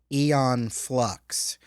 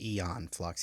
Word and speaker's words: Aeon Flux: the 2005 adaptation of eon flux now i'm pronouncing it eon because that's how they pronounce it in the show in the movie so that's what i'm going to say is eon flux even though it looks